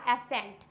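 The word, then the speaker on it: ascent: सी एस के just बाद में आया है, इट मीन्स ये हो जाएगा एसेंट।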